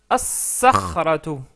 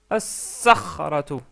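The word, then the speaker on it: الصخرة: Ça devient as-sakhratu, as-sakhratu. La lettre sad est une lettre solaire. Donc on rajoute la shadda et on ne prononce pas le lam.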